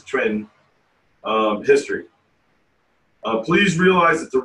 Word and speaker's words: chuan: clear tai chi twin c-h-u-a-n a lot of people in america pronounce it chuan but every chinese i've ever dealt with it says trend history please realize that